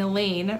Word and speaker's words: Elaine: or any class and elaine rhymes with pain um the unteachables have been removed from the student body and isolated in room 117.